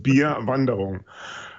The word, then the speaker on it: Bier Wanderung: what is first off how do we pronounce this Linux beer wondering is that very close very close yeah it's Linux be a bundle on which is German term and translates into Linux be a hike essentially and now we understand